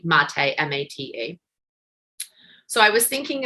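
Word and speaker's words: Maté: Gabor, I believe is how you pronounce his first name, Mate, M-A-T-E.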